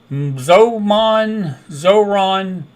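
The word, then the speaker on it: Zohran: about New York, and Zoran Mendami. I pronounced it right because in my head, somebody said this is the way you remember his name because Zoran rhymes with whatever Ron.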